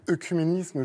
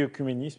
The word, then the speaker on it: œcuménisme: Normalement, j'ai dit œcuménisme, j'aurais écrit EU, mais la prononciation m'a fait Les douter.